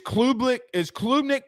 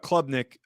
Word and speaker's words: Klubnik: Is Klubnik coming in and how he looked and how